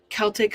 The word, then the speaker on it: Celtic: on break we're good Celtic hard like a k but Boston Celtic okay because America yeah